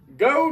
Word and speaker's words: Geaux: Today, on Big B beer review, we have Pecan Ale, Go Nuts, from the Abita Brewing Company.